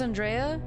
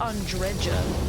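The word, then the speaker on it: Andreja: Isn't her name pronounced Andrea? Not in this game. They pronounce it Andreda in in uh the game anyway.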